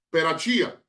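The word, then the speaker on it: Perachiah: Y recordemos que quien inicia diciendo que la serpiente de Génesis es Satanás es Joshua ben Perachai. Otros dicen, lo pronuncian Perachía, jefe del Sanedrín en el año 138 antes de Cristo.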